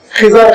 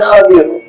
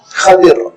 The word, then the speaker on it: خضر: وہ آپ جانتے ہیں جس کو حیدرآباد کے غلط تلفظ میں خضر خضر کہا جاتا ہے، عربی کا صحیح تلفظ ہے خضر، خا پہ فتحہ ہے، بات پر کسرہ، خضر۔ یہ روایتوں میں نام